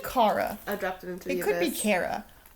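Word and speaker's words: Kara: is, even though it's also supposed to be Cara. I I always said Shara when I was little because it made sense to my you know, phonetically speaking, Shara would be appropriate.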